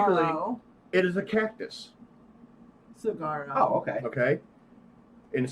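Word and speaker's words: Saguaro: No go for I don't even know how to fucking pronounce that word. Damn. Basic- Cigaro? Basically, Cigarro. it is a cactus. Cigarro.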